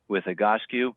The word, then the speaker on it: Egoscue: He'll give you a little more background on how he got involved with Egoscue, and that's the right way to say it, by the way.